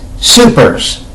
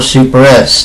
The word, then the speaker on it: SuperS: glare on the camera, this is Supers, or Super S, depending on the way you want to pronounce that. I believe it's actually pronounced Supers.